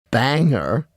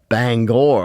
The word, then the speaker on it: Bangor: Harmon made no noise Banger Bangor I should say Bob said returning on